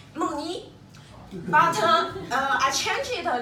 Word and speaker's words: Moni: Is my Chinese name, and if you want to pronounce it perfect correct, it's Moni.